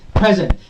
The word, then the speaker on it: present: Pre will be bit louder, bit longer, on a higher pitch than zen.